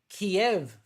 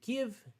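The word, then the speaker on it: Kyiv: bit of white kiev americans have been saying kiev for many years that's the russian pronunciation so henceforth i will be referring to the city of give in ukraine not kiev in the ukraine yeah getting us now back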